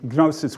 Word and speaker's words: gnosis: Greek word gnosis and in Greek the G is pronounced um gnosis which means knowledge the